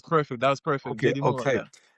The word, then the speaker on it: Muila: Is that pronunciation correct? Muila? Yeah, that that was perfect. That was perfect. JD Muila.